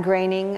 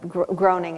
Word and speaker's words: Groening: Stephen King, Dave Barry, Ridley Pearson, Matt Groening, or Groening, as most people would pronounce his name.